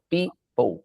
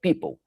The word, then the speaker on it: people: People, só para você, caso tenha algum problema com a pronúncia, é exatamente assim. P-I-P-O-U, right? People. People.